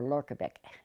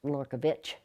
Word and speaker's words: Lorkovich: there looking for a Lorkovich, and he says no, it's pronounced Lorkovich. And it depends, I guess, on where they put that accent mark in the name.